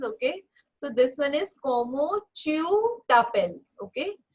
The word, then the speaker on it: comment: Okay, so this one is como tu t'appelles. Okay, first one as in COMMENT. So again ENT as in T nahi pronounce karna.